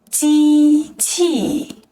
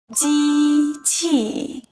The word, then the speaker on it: 机器: Let's break it down: 机器 (jī qì) translates to 'machine' and is pronounced with the first and fourth tones. Let's say it together: "机器, 机器".